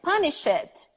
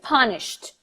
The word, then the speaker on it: punished: mispronouncing it like that over pronouncing saying for example work it help it punish punish it when in fact that is not mentioned so I'm gonna say punished just watched two consonants in a row yes I know it's